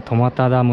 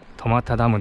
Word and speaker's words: 苫田ダム: おいといてはい苫田ダムです苫田ダムって僕は読めませんでしたけどこれでまたダムって読むそうですこちらダムがは